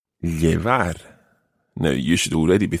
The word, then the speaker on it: llevar: and this verb is llevar. Llevar. Now, you should already be thinking, I know how to spell that, because the first sound, llevar, the first sound is double L.